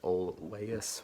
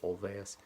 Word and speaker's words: Olweus: around Spartanburg is called Olweus that it's looks like ol Laius with W but W pronounces V so Olweus and also more on